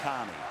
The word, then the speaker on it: Kearney: ball the 11 is Stephen Kearney or tourney as he tells us now is the right pronunciation Jean Armour Dean Bell